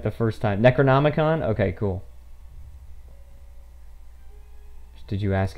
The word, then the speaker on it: Necronomicon: started you said it right the first time Necronomicon okay cool did you ask him payment no